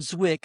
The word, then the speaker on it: Zwick: And last little tidbit here for pre-production, Edward Zik, I keep saying it wrong. Edward Zwick initially hesitated about how